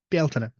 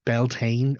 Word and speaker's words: Bealtaine: fire um in fact the word for May the month of May osela in Irish is still Bela so anyone who's saying it's belan or anything like that at all is mispronouncing an Irish word and probably Having learned